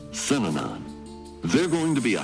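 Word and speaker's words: Synanon: Those three syllables, Sinanon.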